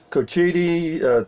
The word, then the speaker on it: Cochiti: New Mexico hey rusty welcome to Cochiti three syllables Indian name okay whatever it is